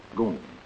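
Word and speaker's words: GUM: the state-operated department store the goon spelled g-u-m pronounced goon my visit to the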